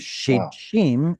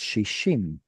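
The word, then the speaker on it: שישים: Instead of shim, it's shishim. The root is shedj.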